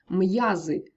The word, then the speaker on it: м'язи: вимову п'ю б'ється в'яз м'язи солов'їний ім'я зверніть увагу приголосні перед апострофом залишаються твердими б п м тощо друге правило ми будемо